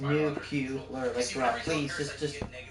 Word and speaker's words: nuclear: problem for later there's they say it like n-u n-u-c-u-l-e-a-r but it's n-u-c-l-e-a-r like New Q Laura stop away cause a